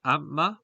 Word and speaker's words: amma: which means I am, the stress is on the last syllable, as the word only contains 1 foot, as it's a 2-syllable word. So here you can hear Matthias say the word. Amma. So as you can see, he emphasizes the second syllable of the word.